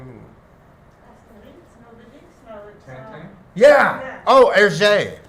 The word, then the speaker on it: Hergé: Oh, Hergé. Hergé, yeah.